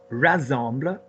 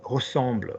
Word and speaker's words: ressemble: So Luc dit que mon pull rassemble is not French. We have rassembler, so r and assemblée, rassembler, and we have effectively ressemble, which is to look like.